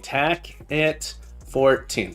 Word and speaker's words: Tackit14: Tackit14. Tackit14. Tackit14. 4 syllables.